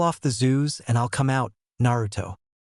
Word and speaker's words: Zu: "And this little creature is a zoo. That's spelled Zu.